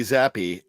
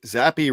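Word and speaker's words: Zappe: playoffs just Z Bailey zappy zappy rhymes with crappy is that okay I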